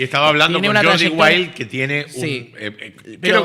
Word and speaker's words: Jordi Wild: Está muy bueno contenido que ha se escribe Jordi Jordi que Jorge en catalán. Jordi wild con si escribieras wilde con W pero sin la final.